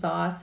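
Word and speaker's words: XOS: So all this means is they're pronounced Zos and Phos, and these are chains of sugars, oligosaccharides, multiple chains of sugars.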